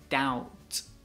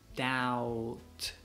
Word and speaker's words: doubt: a doubt yeah but so you should say doubt doubt doubt teacher I have a doubt a doubt